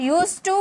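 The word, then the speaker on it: used to: करेंगे यूज्ड टू subject यूज टू verb की first form object लिखा रहता है यूज्ड लेकिन पढ़ा जाता है यूज यूज टू यूज्ड टू नहीं ओके जैसे मैं पढ़ा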